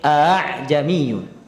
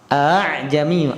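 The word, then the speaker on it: أَعْجَمِيٌّ: Jadi bacanya bukan aa tapi a'jamiyyu. A'jamiyyu. A yang kedua disamarkan. A'jamiyyu wa arabi.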